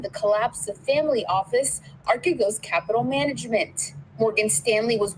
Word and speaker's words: Archegos: And we all It's know pronounced Archegos.